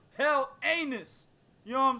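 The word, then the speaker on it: Helenius: And he might be fighting the winner of Adam Kalnaki versus Robert Hell Anus. No, I didn't say his name right. It's Robert Hell Anus.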